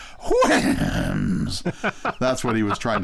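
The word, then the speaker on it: Houyhnhnms: The word Winham is onomatopoeia, so the way you should pronounce it is Winhams.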